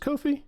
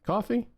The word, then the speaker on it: Ko-fi: Is it pronounced Ko-fi? Coffee? Their whole thing was buy me a coffee. Is it supposed to be coffee?